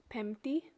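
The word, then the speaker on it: Πέμπτη: Monday in the top left there is pronounced Deftera, Tuesday is Triti, Wednesday is Tetarti, Thursday is Pemti, Friday is Paraskevi, and then instead of writing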